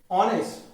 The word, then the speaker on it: honest: Because friends, even though there is H, the pronunciation of this noun is honest, not honest. H is silent here. H is silent.